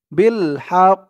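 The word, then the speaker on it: بالحق: জবর হাক বিল হাক এখানে এই তো চিহ্নতে অকফ করার কারণে তাশদিতের উচ্চারণটা হবে না মানে তাসদিদ দিয়ে যে অক্ষরটা দুইবার পড়তে হয় এখানে দুইবার আর পড়া হবে না অকফ করার কারণে একবারই পড়তে হবে হা দিয়ে একবারে কফ ধরবে একটু ধাক্কা খাবে বিল হাক বিল হাক এরকম হবে উচ্চারণ আমার সাথে বলুন তারপরে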